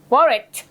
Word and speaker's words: wallet: wallet ก่อนคุณ Okay wallet WALLET เสียงสุดท้ายคือ T กรุณาออกเสียงด้วย wallet yeah ถูกไหม Okay wallet